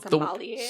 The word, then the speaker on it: sommelier: Sommelier?